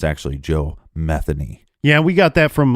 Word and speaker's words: Metheny: you look up some reports they will say Joe Matheny but it's actually Joe Metheny yeah we got that from local Baltimore reports